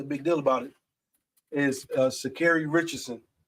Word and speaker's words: Sha'Carri: It's Sha'Carri. But We just out here trying to pronounce her name right.